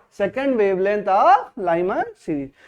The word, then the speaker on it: Lyman: तो ये जो लाइन है, ये जो स्पेक्ट्रम है, इसको क्या बोलते हैं, बोलो लाइमन, क्या बोलते हैं इसको, बोलते हैं लाइमन सीरीज। क्या बोलते हैं लाइमन सीरीज, स्पेलिंग में देख लो एक बार, हाँ लाइमन LYMAN, लाइमन सीरीज।